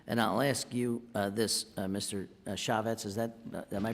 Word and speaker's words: Chafetz: Chafetz, is that, am I pronouncing that right? Chafetz, yeah.